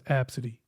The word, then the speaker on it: Abcde: name and the and the girl's name was absidy but but it was spelled AB B CDE e and looking at it